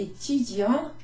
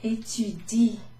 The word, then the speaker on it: étudient: Les étudiants étudient. I'm not saying étudiant, I'm saying étudie. So in a sense, that bit at the end is basically silent.